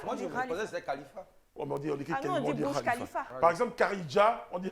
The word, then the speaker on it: Burj Khalifa: le Burj Khalifa. Moi, comme j'ai vécu longtemps à Dubaï et j'ai la prononciation exacte en arabe, il faut Allez. dire le Burj Khalifa.